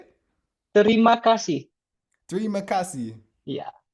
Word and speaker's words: terima kasih: Okay, I would like to tell you terima kasih. Okay, cool. Wait, let me see. I need to write it down so I can. Okay, so how do you say it? Terima kasih.